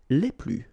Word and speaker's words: les plus: and the plural form, les plus. Okay, so keep in mind that I don't pronounce this final S here, so we get le plus, la plus, les plus.